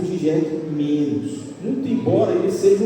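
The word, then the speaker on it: Žižek: A pronúncia é G, o Z é como se fosse um J. Então é Zizek. Mas vamos chamar de Zizek, tá?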